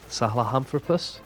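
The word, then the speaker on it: Sahelanthropus: Salamthropus?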